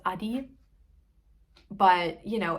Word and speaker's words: Addi: I hate, it's actually, you know, it's a German brand, so it's actually pronounced Adi.